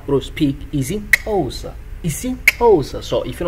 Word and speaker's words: isiXhosa: Like I say, whenever you have a X, let's say X A, you pronounce it cha cha. So if it's X E, that's a cha cha.